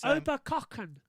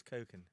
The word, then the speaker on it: Oberkochen: The thing about Germany is that Oberkochen. Ober, That's how you pronounce it. Oberkochen. I would think it was Koken.